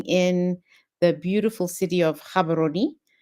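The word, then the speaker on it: Gaborone: the beautiful city of Cababaroni. Most folks like to say Gabberon. It is not Gabberon. It is Cababaroni. It's not difficult to pronounce at all.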